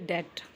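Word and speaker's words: debt: अगला, मैं कर्जे में हूँ या मैं कर्ज में हूँ, तो आप बोलेंगे आई am under डेट। आई am under डेट। डेट का बी साइलेंट होता है, ओके, प्रोनाउंस में।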